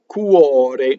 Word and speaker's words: cuore: Notice that the R in cuore is flipped. Notice that in Mostra, the R is rolled. Because why? That R touches a consonant. The one in cuore is between two vowels.